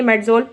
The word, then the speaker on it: Medzol: अब जो पहली कंपनी यूज करती है उन्होंने क्या लिखा है, MEDZOL, इसको भी हम प्रोनाउंस करेंगे मेडजोल।